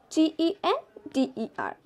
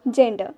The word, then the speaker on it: gender: of d also d is pronounced as j when there is e i or y after g like gender g e n d e r it's gender not gender like in